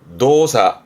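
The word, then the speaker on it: 動作: 그럼 거꾸로 읽으면 동작이 되겠죠. 발음은 노사. 노사.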